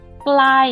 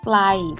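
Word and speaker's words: ไกล: So glai in this example, glai means far, low, mid tone.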